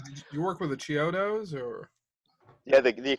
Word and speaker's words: Chiodo: did you work with the Chiodos or? Yeah, the Kyoto brothers.